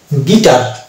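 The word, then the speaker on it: guitar: এর উচ্চারণ আসছে না, ওই জন্য এই শব্দটির উচ্চারণ হচ্ছে গিটার।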